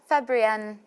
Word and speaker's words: Fabrienne: Yeah, Fabrienne.